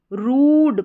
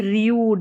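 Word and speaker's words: rude: अब देखिए यहाँ पर यू को ऊ करके पढ़ा जा रहा है, जैसे इसको रूड पढ़ रहे हैं, रूड ना कि रियूड।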